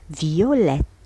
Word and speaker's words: violet: مثلا مثال une robe violette. إذا هنا سنضيف T ونضيف E. لذلك عندما في المذكر ماذا نقول؟ violet نحط le T à la fin لكن لا ننطقه.